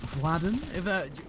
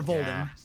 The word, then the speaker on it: Vladen: And I'm going to go with Vladen. Would you agree that's probably the correct way to say it, Vladen? Yeah, 100%. Or Volden.